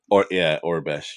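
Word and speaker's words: Aurebesh: I think it's Orabesh. Orbesh.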